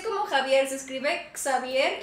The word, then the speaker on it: Xavier: pronuncia como Javier, se escribe Xavier y en EEU se pronuncia Xavier.